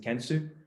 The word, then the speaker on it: Kensu: which is kensu so you pronounce it kensu for can and sustainability where we create a